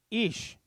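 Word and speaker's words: אִישׁ: the words are ish say that with me ish okay and it means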